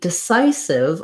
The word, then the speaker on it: decisive: again have syllable stress second syllable stress on the psi syllable this time i'll write it like the word psy to make a sigh sai because we again have this i diphthong and um again our first syllable is unstressed so i'll write that as with the uh desai sieve and lastly our i here at the end goes back to saying the ih sound so our letter s